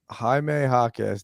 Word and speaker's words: Jaime Jaquez: Jaime Jaquez. That's my guy. I Jaime forgot that he was going in the dunk Jaquez, that's how you contest. say his name? Yeah. Jaime Jaquez.